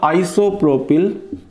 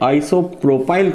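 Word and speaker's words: isopropyl: आइसोप्रोपिल chloride. English medium वाले बोलते हैं आइसोप्रोपाइल क्लोराइड।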